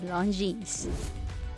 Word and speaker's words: Longines: mispronouncing this ran as the appropriate way to pronounce it as Longines number five blonde pen the French translation of